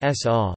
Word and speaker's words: Sova: The Slovenian Intelligence and Security Agency Slovene, Slovenska obvesivalno varnostna agencija, SOVA or SOVA, pronounced S-A, lit.